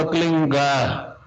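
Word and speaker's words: क्लीं: होता है एक शब्द क्लीन शब्द, क्या आधा लै में मिला हुआ, बड़ी की मात्रा और बिंदी, उसका उच्चारण होगा क्लीन गा। गा की ध्वनि निकलेगी पीछे।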